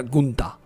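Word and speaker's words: Günter: que está luchando que se llama gunter y se pronuncia gunta gunta el adivino el llevo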